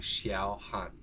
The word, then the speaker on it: Xiaohan: one right here yeah like think s-h-i-a-w xiaohan there you go all